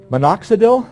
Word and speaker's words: Minoxidil: And I'm not sure how to pronounce this. Minoxidil, thank you.